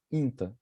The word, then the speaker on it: quinta: And on quinta, you have to I think it's important to notice the nasal sound. Quinta.